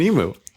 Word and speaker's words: emu: emu emu emu don't start me on your pronunciation of emu it's an emu it's not an emu okay so the the question is it's a